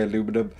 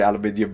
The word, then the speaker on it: aluminium: the aluminium die set i know that it's said or pronounced differently elsewhere so if you want to say aluminum go for it i'm just going to say aluminium because it's how to pronounce it but i really do